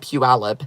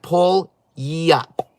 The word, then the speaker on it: Puyallup: so here's the deal it's actually called Puyallup Ella but I always misspell it until Sean one day was like it's like Paul yup pull yep oh yeah so now